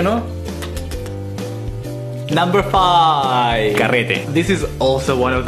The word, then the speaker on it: carrete: So it's ca again, like California, re, as in Republic, te as in tequila, carrete, carrete.